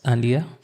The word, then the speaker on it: Andiyah: I'm going to be your host for today's church podcast session uh with the lovely Miss Ania. Is that the right pronunciation for the name?